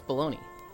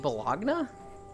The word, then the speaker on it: bologna: I thought it was wait are you saying baloney yes that is how you pronounce baloney did you say it bologna where did you get the I from that